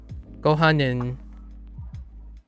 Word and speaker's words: ご飯: Gohanin? Yeah. Gotta maximize. And then sushi. Which one is rice? Gohanin? ご飯 Oh, gohan. Oh, it's really light. Gohan. ご飯 Gohan. Okay. So, not necessarily a separate syllable.